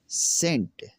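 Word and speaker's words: scent: वो यह है कि अगर किसी लफ्ज में सी से पहले एस आता है तो सी हमेशा साइलेंट हो जाएगा। कैसे इसमें देखें इनमें इनमें यह दिया हुआ है सेंट सी से पहले एस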